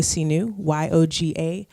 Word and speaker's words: Sihnuu: My Instagram is Sinu, YOGASIHNUU, pronounced like Sinu Possibilities.